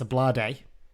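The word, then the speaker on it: Ablade: ball forward that uh a blade which I've had to confirm by the way that is how you pronounce it it's a blur day so we know that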